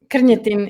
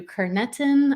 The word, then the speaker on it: Krnjetin: name in china so back home our last name is kerny tim i love that carnetin is the way you're supposed to pronounce it okay um in america i kind of let americans slide and i let them do carnetin i let them skip the j pretend they can do the rest of it and i'll